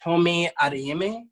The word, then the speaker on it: Tomi Adeyemi: My books are all over the place, but it's I believe her name is pronounced Tomi Adeyemi.